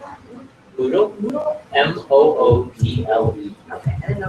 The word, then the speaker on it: Moodle: Moodle, Moodle. Okay, I didn't know. Like noodle with an L. Yeah, it's like Moodle with an M.